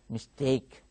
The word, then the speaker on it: mistake: don't pronounce mistake mistake what is the correct pronunciation mistake there are two syllables and the second syllable is stressed you should follow that mistake and here our dear